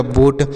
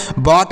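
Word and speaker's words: boat: तो ये हो गया बोट बी O eighty बोट हो गया इसे बोएट नहीं पढ़ना है बट नहीं पढ़ना है इसे आपको बोट पढ़ना है क्या पढ़ना है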